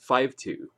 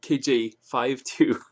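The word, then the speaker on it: KJ-52: And, and for that reason, he named the album, it's pronounced 5-2. So, KJ52.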